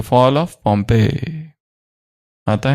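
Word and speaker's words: Pompeii: वो मुरली में पॉम्पे शब्द नहीं आता है, पम्पई ऐसा कुछ आता है, पॉम्पिया। पर पॉम्प ऑफ माया अलग, पॉम्पे पॉम्पिया ऐसा कुछ आता है, पर प्रोनाउंसिएशन है पॉम्पे, द फॉल ऑफ पॉम्पे।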